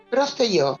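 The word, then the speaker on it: Prostějov: Prosteyov, sí, porque la J en estas lenguas eslavas suele ser una iota.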